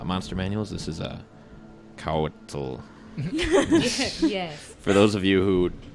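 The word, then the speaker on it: Couatl: you with uh monster manuals this is a couture for those of you who don't know how to pronounce this it's a c-o-u-a-t-l and it says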